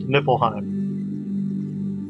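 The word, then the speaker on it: Niflheim: Now you also had Nippleheim spelled with a V here but it's usually spelled with an F pronounced Nippleheim.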